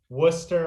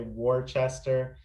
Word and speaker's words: Worcester: how significant uh pays you throw program is worcester massachusetts and yeah that's the correct way to pronounce it uh someone in massachusetts will ding you if you say worchester but um so you have they implemented pay